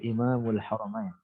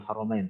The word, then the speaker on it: Imamul Haramain: ini gelar bagi beliau jadi bacanya gitu Imamul Haramain Bukan al-imamul haromain tapi image al-haramain yaitu Abdul Malik IBN